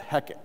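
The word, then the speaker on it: Heket: and the name of this goddess was called heck h-e-k-e-t excuse me which is the goddess of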